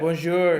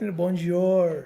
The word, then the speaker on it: bonjour: papa not like this you need to pronounce it like this bonjour not like that bonjour no it's bonjour bonjour yeah that has